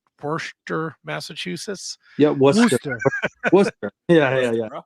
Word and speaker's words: Worcester: Worcester. Yeah. Bro. It is spelled like Worcester. It's Caster. Yeah.